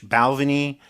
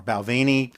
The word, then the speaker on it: Balvenie: marangie Sherry Cask finish balveny or Balvenie people pronounce it differently are great uh glimmer